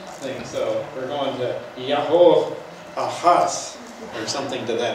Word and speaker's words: Jehu: And actually, I'm pronouncing his name very Americanized, because you got to remember that J-E is not pronounced J in Hebrew, just like it isn't in Spanish and some other languages. It's Yah. So it's Yahoo.